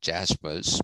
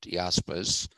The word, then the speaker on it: Jaspers: led karl jaspers j-a-r-s-p-e-r-s pronounced not jaspers but yaspers karl jaspers basically said when